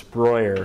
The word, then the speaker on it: Breuer: You'll notice when I'm referring to this project, it's Breuer, which is the German pronunciation, but I'm Brewer because I'm an American.